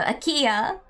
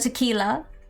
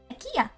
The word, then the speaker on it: IKEA: No, no. IKEA, not Akila. IKEA. IKEA.